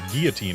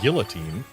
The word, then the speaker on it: guillotine: And yeah, Curbster, the reason we pronounce it guillotine instead of guillotine is because guillotine is the French pronunciation, and it's a French word.